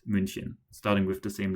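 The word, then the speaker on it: München: example to German pronunciation because Munich is munchin starting with the same letter.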